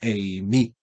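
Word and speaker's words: εἰμί: Colocamos este acento obviamente para hacerlo pronunciable, para decir que el acento, la fuerza tónica se hace en esa sílaba, eimi.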